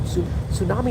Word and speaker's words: tsunami: That's why I hate silent letters like tsunami. I'm like, who the came up with the word tsunami doesn't start with a T? Why is there a T in tsunami?